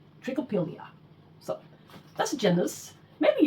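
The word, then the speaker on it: Trichopilia: Trick oill. That's how it's supposed to be pronounced. Trickopilia.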